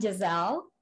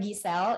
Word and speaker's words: Giselle: I am Giselle, or Giselle in Indonesian pronunciation.